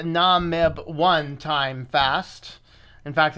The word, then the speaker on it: Namib: We are doing another live show today, and we're going to be doing the live, however you pronounce that word. I think it's Namib.